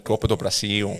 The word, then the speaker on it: Copa do Brasil: The Copa do Brasil.